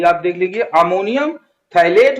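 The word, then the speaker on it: phthalate: Ammonium थैलेट, P silent होगा यहाँ पर, P अमोनियम थैलेट, ओके।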